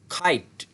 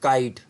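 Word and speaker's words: kite: जब भी के किसी वर्ड के स्टार्ट में यूज़ होगा तो उसके आगे कोई ना कोई वॉल साउंड लगाओ तो वो किसकी आवाज़ देगा? काफ है की बानी खे की। एग्जाम्पल देखते हैं, एग्जाम्पल से हमें तो सही समझ लगती है। खाइट, खाइट, खाइट, नॉट काइट। काइट अब पुराना हो गया बचपन में, दिस इज खाइट, खाइट।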